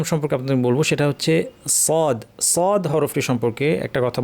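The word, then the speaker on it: صاد: একটা কথা বলব যে আমরা অনেক সময় সদ উচ্চারণ সময় ঠোটটাকে গোল করে সোয়াদ বলি। সোয়াদ এটা আমার দেশে শিখানো হয় অনেক সময়। এটা কিন্তু ঠিক না।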